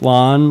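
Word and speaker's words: LAAN: This is LAN, L-A-A-N, presumably pronounced LAN Labs beta app, which can scan in 3D objects.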